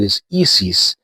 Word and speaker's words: ISIS: Let's start with this band, which is called ISIS, or in the Spanish pronunciation, it is ISIS, because this is a Mexican band.